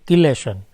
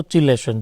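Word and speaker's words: chelation: को हम बोलते हैं किलेशन। क्लियर? या तो चिलेशन, जो भी आप प्रोनाउंसिएशन करना चाहे।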